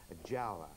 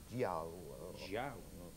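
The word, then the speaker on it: giaour: It depends how you pronounce it. Jawa. Which is a non-Muslim, especially a Christian, and it's spelled G-I-A-O-U-R. G-I-A-O-U-R. Jiao.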